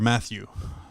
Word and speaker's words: Mateus: saint sure he chooses Mateus hor Matthew yes Matthew it's spelt strangely but it is Matthew okay as is kind